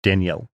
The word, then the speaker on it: Danielle: in the Southern Hemisphere, we pronounce it with 2 syllables, as it is a combination of 2 names, Danny and Al. Whereas in the North, it tends to get combined into 1 syllable, more like Danielle.